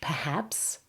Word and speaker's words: perhaps: Well done, and now you wish perhaps. Listen to my stress and emphasis in the word perhaps. Where's the stress? Perhaps. It's on the second syllable. The first syllable becomes very weak.